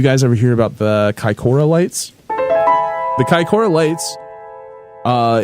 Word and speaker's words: Kaikoura: okay uh you guys ever hear about the Kora lights the Kora lights uh is the name